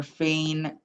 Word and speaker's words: feign: gh is silent uh for feign it technically it's eigh but that's because ei makes the a sound g is silent and you have n making that n sound um same with the